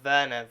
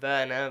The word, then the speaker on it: Werner: Werner, I think the German pronunciation would be the W being a V, so Werner von Strucker, but now Alex, now going by the name of Alex Braun.